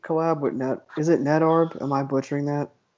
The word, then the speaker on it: Nedarb: Like, I mean, like any Peep collab with Net, is it Netarb? Am I butchering that? It's Brendan backwards, yeah. It's Nedarb is how I always pronounced it. Nedarb.